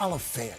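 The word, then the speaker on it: Olyphant: I always pronounce it Oliphant. It's Oliphant.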